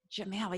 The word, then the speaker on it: Jamail: need your last name jamel jamal yeah how do you spell that j a m as in mom ail right yes jamal okay hold on sorry